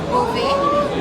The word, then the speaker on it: Beauvais: Now straight away, when I say a Beauvais, I'm saying it correctly, aren't I? You are. Yeah. You're absolutely saying it correctly. In French, it's Beauvais.